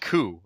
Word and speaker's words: Qu: I think they're called Ku or Q. It's Q-U, yes. Right? I'm gonna pronounce it as Ku, because otherwise it's the Q, and that's something different.